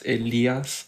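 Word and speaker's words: Elías: to correct you but you said my name wrong it's elias like the spanish way so yes people should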